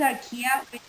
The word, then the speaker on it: Archaea: filamentos bacteria and gram positive then darkia the pronounces are kia which means ancient it has methanol genes allophiles